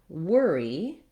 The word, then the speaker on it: worry: letters in the word worry the letters o r say the tense stressed er sound it's actually just the same as in the word were and here it's spelled